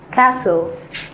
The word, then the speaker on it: castle: كاسل كاسل، التي سايلنت مش بنطقها. كاسل كاسل، برافو.